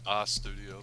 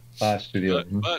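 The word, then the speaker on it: A'Studio: a studio a studio I think they pronounce it a studio but yeah a studio that's right we'll throw in an H nice well Done Quick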